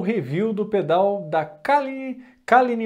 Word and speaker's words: Caline: Mais um vídeo aqui para vocês e hoje eu tô aqui para mostrar o review do pedal da Kalini, eu acho que é assim que se pronuncia, Kalini FX.